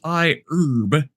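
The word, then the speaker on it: iHerb: Oz um is an investor in I I would pronounce it I Herb, but it's I Herb with an H.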